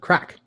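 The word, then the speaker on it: craic: It's called crack. It is indeed. C-R-A-I-C. Yes, not Craig, which is how my name is spelled with a G.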